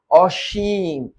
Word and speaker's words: অসীম: ঘিরে গমে ঘুরে ফিরে অসীম এ উচ্চারণ কি অপরে কিম অম্যা একটু দেখো এইটা তালব্য স এর মত হল এবং এই অই এটা ও এর মত হল কেন ও এর মত হলো না কারণ এটা না বোধক কারণ এটা না বোধক রে বোকা এটা না বোধক